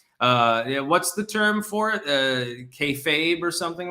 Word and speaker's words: kayfabe: It's pronounced, according to Citicipiente, it's pronounced kayfabe.